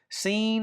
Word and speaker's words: sin: Scene and sheen.